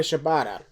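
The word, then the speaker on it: Shibata: that happened exactly exactly dude uh shabata katsuyori shabata did I say it right please tell me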